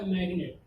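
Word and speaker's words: magnet: जैसे मान लीजिए लिखा मैग्नेट, यहाँ पे भी आगे आपका जी के बाद एन आया है, यहाँ पे क्या हुआ, लेकिन जी का उच्चारण किया जा रहा है, यानी जी साइलेंट नहीं है।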